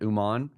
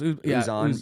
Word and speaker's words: Uzan: Uman? Is that how you say it? Uzan? No, it's Milos Uzan.